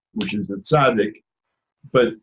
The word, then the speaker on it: tzaddik: say, which is the tzaddik. But if you remember the Ritz crackers, Ritz, that TZ at the end, that's what a tzaddik is pronounced like most of the time.